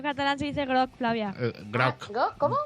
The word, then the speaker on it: groc: Groc. ¿Cómo? Groc.